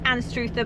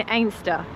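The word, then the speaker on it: Anstruther: So, we were heading to a place with a difficult pronunciation. Strangely, it looks like it's Anuther, but we met someone today who said it's actually pronounced Aster.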